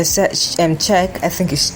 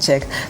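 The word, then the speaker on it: Čech: They gathered to protest, and even Peter Cech, I think it's pronounced Cech, former Chelsea goalkeeper, had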